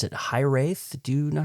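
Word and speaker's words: hiraeth: I'm still not very good at it, but it's hith.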